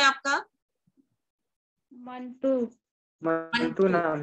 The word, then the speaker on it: मंटू: मंटू। मंटू नाम है। मंटू। मंटू, एक बात अच्छी तरह मंटू।